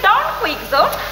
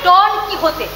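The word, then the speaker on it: Don Quijote: একটু আলাদা যেমন সার্ভে ডন কুইক আরে না না উচ্চারণ হবে ডন কি হতে আমাদের দেশে ডন মানে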